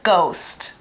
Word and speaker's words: ghost: Now you have to be careful. We don't say that H. That H in the word is quiet. We only say the G sound.